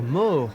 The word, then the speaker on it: Moore: cette aisence du leader Robert mort comme on pourrait le prononcer la française personne ne peut le